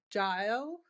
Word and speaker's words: Jael: And I would love to pass the mic off to, I'm going to try and say it, Jael.